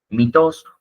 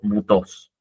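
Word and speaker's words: μῦθος: Esa y es la famosa y que se pronuncia entre una i y una u. Por eso a veces lo van a ver pronunciado como mitos o mutos.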